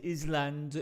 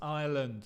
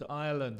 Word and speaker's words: island: Fija la pronunciación del island, no es island, es island, island. El S es mudo.